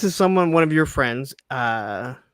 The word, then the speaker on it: Janessa: Janessa. Did I say it right? Janessa, yep.